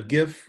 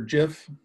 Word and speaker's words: GIF: ones um first one's a gif or jif however you'd like to pronounce it um the one setback